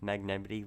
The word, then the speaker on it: Magnemite: Did you know Magnemite is actually pronounced Magnemity like Yosemite?